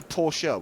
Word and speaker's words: Porsche: cuff everyone out wrong that's how they would say Porsche Porsche oh say Porsche Porsche I would say Porsche which is the correct pronunciation okay all right yeah